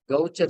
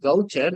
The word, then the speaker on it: Gaucher: And the typical cell is Gaucher cells. To be frank, it is not actually Gaucher. The disease has to be pronounced like this. This is the pronunciation for that disease, Gaucher.